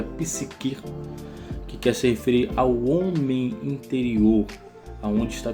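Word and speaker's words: ψυχή: alma no grego, eh, se pronuncia psiquir, que querem interior, aonde está contido a os sentimentos, o desejo, a vontade.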